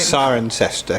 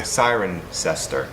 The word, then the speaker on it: Cirencester: This is actually for in Cirencester, which I'm sick of pronouncing the name wrong. How do you say the name right? Cirencester. Cirencester.